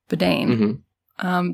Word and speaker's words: Biden: So Joe Biden, pronounced like bidet, but with an N, Biden, did an interview with